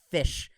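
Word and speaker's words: ghoti: the actual words but it's spelled g-h-o-t-i but in english pronunciation it's pronounced fish of how the different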